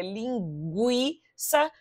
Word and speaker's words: linguiça: pronúncia do u e aqui você leria linguiça porque haveria trema nesse U aqui ó tá vendo